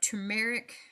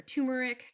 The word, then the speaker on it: turmeric: We have turmeric or turmeric, depending on how you say it, potato.